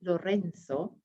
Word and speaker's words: Lorenzo: In pronunciation of Lorenzo, you might have noticed 2 different ways. If you're speaking Castilian Spanish, it would be Lorenzo.